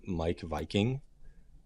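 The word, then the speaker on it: Meik Wiking: space is a guy by the name of Mike Viking. And he has the coolest name ever. Coolest name ever, yeah. It's spelled MEIK and then WIKING.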